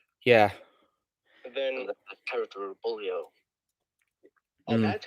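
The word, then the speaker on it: Boolio: and r2 yeah yeah and then the character bullio and that's how you say his name because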